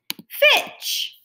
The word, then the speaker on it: pitch: notice on this digraph the T is silent so I'm only going to say the CH sound which says so let's read it together it fit the word is pitch grab my other ending